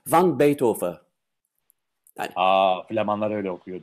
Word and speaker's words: van Beethoven: Ama Van Beethoven demek de bana ters. Yıllarca Van Beethoven dedikten sonra şimdi aslında, ama Flamanca okunuş öyle. Van Beethoven.